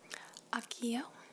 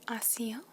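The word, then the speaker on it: Accio: one in your book should be Akio or you can also say AIO there's two pronunciations but is Aio a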